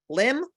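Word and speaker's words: Lympne: in Kent Port Lim spelled l-y-m-p-n-e mind you but it's pronounced Lim Ford knows um Churchill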